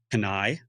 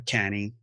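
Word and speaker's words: Cannae: It's called Canai or Cany, depending on how you want to pronounce it.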